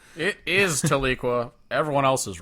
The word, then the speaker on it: Tahlequah: They do have a Walmart in Tahlequah, which I'm going to still say is pronounced Tahlequah. It is Tahlequah.